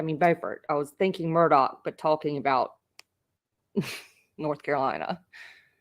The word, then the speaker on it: Murdaugh: I appreciate that um they do keep saying murdal in court but it's actually pronounced and if you hear him say it it's Alec not Alex Murdoch which is I know I overdid that sorry